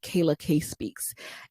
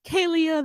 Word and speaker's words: Kayla K Speaks: No one could pronounce it. They were calling it Kalia. They were calling it Kayla Speaks. It was a mess.